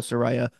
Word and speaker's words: Saraya: get people to understand her name is Soraya we gotta call her Soraya Sariah I know she